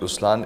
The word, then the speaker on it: Ruslaan: so even in raslan when you say raslan also means the lion it's the attitude of am but the right pronunciation is rlan okay there is so